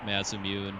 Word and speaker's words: Masamune: the uh the sword i call it mass immune but i know masamune's a little more accurate japanese pronunciation but uh to get